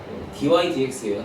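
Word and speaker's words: dy/dx: 이거이 다 읽을 때 dx분의 dy라고 읽으시면 안 됩니다. dy dx예요. dy dx.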